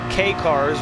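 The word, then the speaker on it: Kei cars: K-Cars, which is spelled K-E-I.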